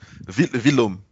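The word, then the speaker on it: Villaume: Vilom.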